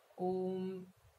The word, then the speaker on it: Om: Om. Make sure that both the syllables are of equal length, O and M.